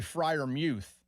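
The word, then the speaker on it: Freiermuth: don't care either way Pat Frier Muth same thing it's actually Frier Muth but he's fine with Frier Muth everybody just says Frier Muth because it takes less effort Yeah, like I'm working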